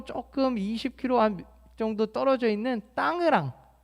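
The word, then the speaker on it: Tangerang: 이 자카르타에 계신 건 아니고 자카르타에서 서쪽으로 조금 20km 정도 떨어져 있는 땅으랑, 우리 외래 표기법은 땅그랑 땅이랑이라고 읽는데 땅으랑이라는 곳에 계신 겁니다.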